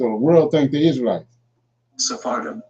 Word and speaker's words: Sephardim: Sephardim, as mentioned earlier, is pronounced in the plural in Hebrew, while in the singular it is Sepharad.